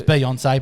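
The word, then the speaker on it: Beyoncé: her name is spelled but it's not Bay on either it's Beyonce but anyway beonce regardless anyway that's about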